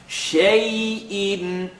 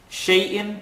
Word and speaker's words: شَيْءٍ: The sheen has a line on the top. Ya has sukoon. So you know from the last rule of accents. Madalayin, madalin. We called it the Canadian rule, where you opened your mouth, kind of made an A sound. Shay'in. Shay'in is fine.